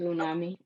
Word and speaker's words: Unami: incorrectly please correct me you said it right it is unami okay the floor is